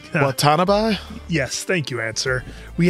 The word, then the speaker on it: Watanabe: Do I try to pronounce his last name? Watanabe?